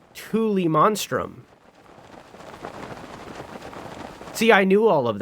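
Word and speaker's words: Tullimonstrum: And it's pronounced Thule monstrum.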